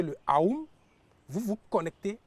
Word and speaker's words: Aum: C'est souvent mal prononcé. Hm hm. Parce qu'on le prononce en disant oh. Hm. Alors qu'originellement c'est aou. Ahou.